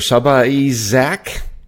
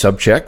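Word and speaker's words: Sabacek: call and the person greeted me with mr. Saba Zach and I said it's pronounced sub check what what do you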